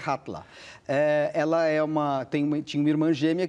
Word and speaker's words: Halla: narradora, cujo nome é Hatla. É assim? Você que acabou de me ensinar aqui como pronunciar. Os islandeses diriam assim. Está escrito Halla, H-A-L-L-A, mas é Hatla.